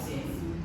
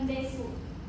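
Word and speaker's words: です: Nggak des? itu menjadi emang sudah dari sananya dibaca des bukan desu.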